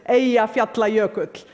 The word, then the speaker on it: Eyjafjallajökull: By the way, the pronunciation is Eyjafjallajökull. None of your media got it right.